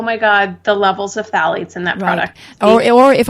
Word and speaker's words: phthalates: is a chemical called phthalates. And I'll spell it because it's spelled differently than it's pronounced. So it's spelled Phthalates, phthalates.